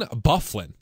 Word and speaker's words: Byfuglien: or something like that right okay it's Dustin Byfuglien that's house pronounced can't we use something just don't make